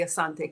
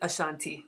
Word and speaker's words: Asante: Naming ceremony, and we get to meet the king, the Asante king. You probably pronounce it Ashanti, but if it's on your bucket list, and yes, there's payment plans.